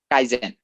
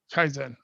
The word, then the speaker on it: kaizen: And how you say you pronounce it? Kaizen? Kaizen. Kaizen.